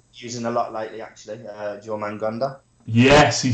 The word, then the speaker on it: Jormungandr: Jormungandr.